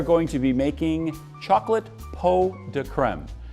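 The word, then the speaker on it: pots de crème: today we are going to be making chocolate po de creme it's spelled pots to creme but it's actually pronounced po de creme and it loosely translates to pots of cream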